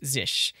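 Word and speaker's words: Zsh: is the one that gives us oh my zish. And yes, it's pronounced zish.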